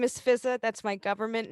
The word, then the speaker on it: Fizaa: not pronounced just pronounced fizza one of the a's is silent i don't know which